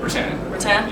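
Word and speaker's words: Rutan: Now you have to correct me if I say his name wrong, but Erik Olson, right? Rattan.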